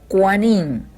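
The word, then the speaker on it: כֹּהֲנִים: moshé con los sacerdotes sacerdotes se pronuncia cuanín y los juaning levitas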